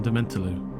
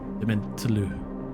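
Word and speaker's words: Dementlieu: This is the French sound "you," but with an I in front. One syllable for that whole damn thing. Le. By the way, this word is pronounced the same for French as or Quebec French. Quebecois is a different beast, like you say, but "lu" is not an example of that.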